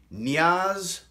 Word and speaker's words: Nya: today we're gonna read Nia's long walk by linda Sue Park illustrated by Brian Pinckney and yes I said yeah we've been saying Naya for years turns out it's pronounced one syllable Nia don't believe me